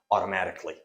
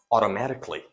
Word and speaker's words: automatically: actually it is pronounced automatically now the sound a is completely reduced it is silent it is not pronounced KY it is pronounced automatically automatically hey once your